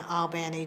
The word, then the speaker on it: Albany: Automated Sciences Group in Albany, Georgia. And notice I said Albany. That's how they pronounce it.